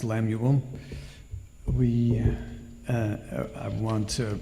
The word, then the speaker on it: Lemuel: Arabian Peninsula and uh was uh pronounced as lamuel we uh I want